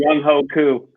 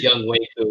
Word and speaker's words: Younghoe Koo: And I've been mispronouncing his name the whole season, too. Been calling him Younghoe Koo. Young. yeah. Young Wei. It's Young Wei Koo.